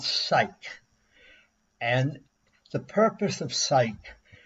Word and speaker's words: Cyc: use common sense now it's spelled cyc which is supposed to stand for encyclopedia it's pronounced psych Sy y c ke